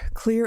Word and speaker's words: Xlear: It's Xlear that's X-L-E-A-R but it's pronounced "clear."